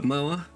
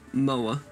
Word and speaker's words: Moher: the cliffs of moher remember moa i'm gonna run her over with a mower that's how it's pronounced and i took this